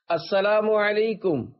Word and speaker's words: السلام علیکم: لے۔ 11، سلام اور جواب سلام کا درست تلفظ یاد فرما لیجئے۔ پہلے میں کہتا ہوں، آپ سن کر دہرائیے۔ السلام علیکم، اب پہلے میں جواب سناتا ہوں، پھر آپ